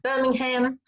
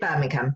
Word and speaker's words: Birmingham: My hometown is called Birmingham. So okay. I know in America it would be pronounced Birmingham, but we call it Birmingham.